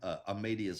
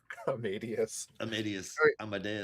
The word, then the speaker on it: Amadeus: The way you're pronouncing Amadeus is crazy. Amdas Amadeus. It makes sense, but I've never heard that pronunciation for Amadeus before.